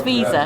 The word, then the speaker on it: Viza: It is pronounced as Viza.